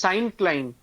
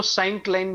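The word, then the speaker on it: syncline: known as साइन क्लाइन एस वाई एन सी एल आई एन ई इसको actually साइन क्लाइन pronounce करते हैं बट तुम लोग को पढ़ा रहा हूं इसलिए बता रहा हूं इसको साइन क्लाइन भी बोल सकते हैं इज नोन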